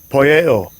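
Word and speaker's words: ποιέω: because all right so get a Greek pronunciation Strong's G 4160 poyeo all right says to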